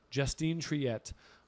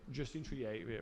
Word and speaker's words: Justine Triet: Sam, could you get the pronunciation? Even just say the name out for my woman on the right. Justine Triet, wearing. I want to say this is Louis Vuitton as well. Triet, Justine Triet, very French.